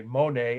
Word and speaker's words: Monet: first impressionist painter well there are people who argue with that they'll say monet and monet together both but any case just